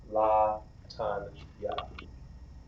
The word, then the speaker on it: Latanya: La, ta, na, ya. Put it together. La, tan, ya. Latanya.